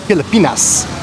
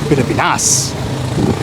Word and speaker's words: Pilipinas: And also, thank you guys for correcting my pronunciation of the Philippines. I kept saying Pilipinas, which is not the correct pronunciation. Pilipinas.